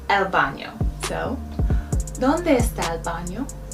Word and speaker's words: baño: The word for bathroom is baño, el baño. The N has a tilde over it, el baño.